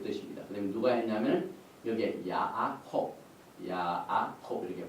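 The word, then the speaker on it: יעקב: 그다음에 누가 했냐면 여기에 야아콥 이렇게 발음합니다.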